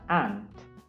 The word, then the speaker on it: aunt: U silent u tidak dibaca un-nya. Jadi dibacanya aunt.